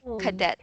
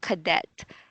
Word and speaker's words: cadet: student a soldier student a military student soldier cadet a student in the armed forces the syllable is on the first one cadet could that could that could that so and